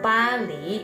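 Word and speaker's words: 巴黎: Pali bacanya ya.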